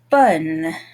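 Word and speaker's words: bonne: add the e and this has a pronunciation change bon becomes bun okay now from here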